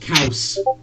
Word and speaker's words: Chaos: It's pronounced Kaus.